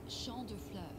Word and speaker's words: Champ de Fleurs: It's Champ de Fleurs.